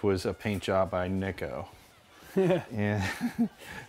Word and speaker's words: Nico: I can see mica Americans like to correct me to tell me that and I say my name is Nick oh and they go oh you mean Nico from now on I'll say Nick oh all right this guy